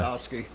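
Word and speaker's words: Gostkowski: Gostowski.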